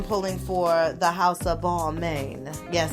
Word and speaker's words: Balmain: for the House of Balmain. Yes, that's how they pronounce their house, because they're the main motherfucking attraction.